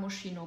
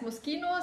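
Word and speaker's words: Moschino: moskino habe ich jahrelang mosino gesagt da musste in der Tat eine Italienerin kommen und mir erstmal sagen heißt moskino heißt brusketta und das heißt nokis und ich okay aber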